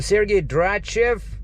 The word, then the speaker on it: Sergei Dratchev: what's what was your name yeah it's a sergey drachev you i i can spell it for you once again well we got